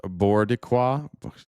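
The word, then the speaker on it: Boricua: It's pronounced Bordiqua.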